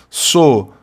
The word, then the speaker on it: solidário: Depois, simplesmente partilhe comigo um sorriso e solidário, e seja solidário. Então tá aqui, olha, solidário, sílaba tônica penúltima, palavra paroxítona terminada em ditongo crescente.